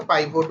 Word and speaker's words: pivot: পিভোট বলুন বা পাইভোট বলুন একেকজন এক রকম উচ্চারণ করে। একচুয়ালি পিভোট কথা।